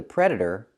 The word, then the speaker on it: predator: the Predator pronation Predator the t is pronounced as a fast e predator predator the cat